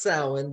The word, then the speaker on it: Samhain: up by doing interviews we say it's pronounced sound but it looks like samhain so people that want